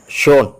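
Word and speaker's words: schön: means cheese S സി എച്ച് ഓ ഉംലോട്ട് എൻ ഷോൺ means beautiful F യു ഉംലോട്ട് എൻ F fume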